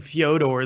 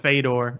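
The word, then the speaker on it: Fedor: how you say it I guess I should be saying fee owed or though instead of phaidor if I go like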